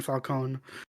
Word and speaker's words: Falcone: he interacts with carmine falcone who isn't in this movie much oh yeah falcone or falcone oh yeah they call him falcone in this hey hey people making movies us spaghettis is pronounced falcon okay but i think